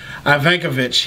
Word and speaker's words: Ivankovich: : Hi, my name is and I am very blessed to be here with Andy Ivankovich. I think I pronounced your last name correct, did I?